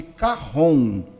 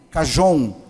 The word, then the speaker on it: cajón: meu projeto de chama-se carron né O que que é o carro on Na verdade ele se escreve chj o n cajón mas é um instrumento